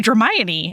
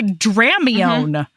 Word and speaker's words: Dramione: way to do it because now you can say Dramione and you don't say Dramon anyway okay night night